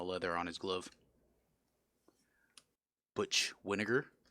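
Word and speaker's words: Wynegar: on his glove butch Winokur rhymes with vinegar Tom Hume with the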